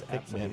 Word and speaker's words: Pikmin: It's Pikmin. Yeah, brutality. Pikmin. Okay. But yeah, okay, so what games? Strategy guides for Luigi Mansion, Wave Race, Rogue Leader, and Pikmin.